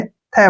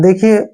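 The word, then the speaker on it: they: टी एच ई वाई इसको हम थे नहीं पढ़ेंगे यहां पर इसका प्रोनाउंस दे करेंगे ठीक है ना दे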